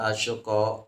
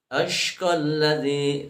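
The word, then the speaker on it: الأشقى: Jadi jangan dibacanya wa yatajannabuhal asyqa. Tapi yang betul membacanya adalah wa yatajannabuhal ashqalladzi ya, wa yatajannabuhal ashqalladzi.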